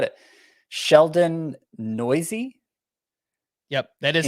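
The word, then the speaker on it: Neuse: oh man i'm glad i looked up the pronunciation before i said it sheldon noisy yep that is how you say his name i remember hearing it and i was like what n-e-u-s-e noisy uh yeah he got a start for the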